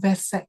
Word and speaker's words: Vesak: Okay, so Vesak is pronounced with a V, even though it's written with a W, it's pronounced with a V, Vesak lanterns.